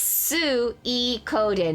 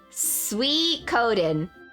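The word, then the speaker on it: Suikoden: time I learned okay it's a Japanese word it's hard to describe it's Sue e Coden is that right I pronounce it as sweet cold then I agree with lamo chips minus the L sweet Coden I hear some people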